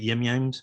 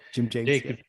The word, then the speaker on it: Jim James: Is it Yim Yims? How do you pronounce it? Jim James.